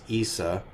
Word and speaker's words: Issa: Of course the way Jesus's name was originally pronounced is Issa with a very soft S at the end.